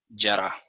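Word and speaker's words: ירה: Yará. ¿Ok? Voy a escribir ahora al lado pronunciación y traducción. Torah, esto se pronuncia Jorah y esto se pronuncia yará.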